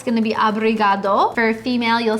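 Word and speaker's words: obrigado: And for a male, it's going to be abriad.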